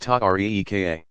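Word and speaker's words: tariqa: came to be called Terra cos pronounced tuk REE ka analogous in some ways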